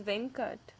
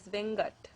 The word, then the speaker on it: Venkat: And another common Tamil name is Venkat, but it can also be pronounced as Vengat.